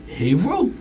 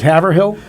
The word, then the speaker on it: Haverhill: Yes, and I thought, you guys pronounce it Haverhill? Yes. Oh, you thought it was Haverhill?